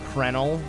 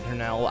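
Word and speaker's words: Crenel: way up to Mount Kernel, or, you know, Krenel, because I believe that's the more proper way to pronounce it, but I like saying Kernel.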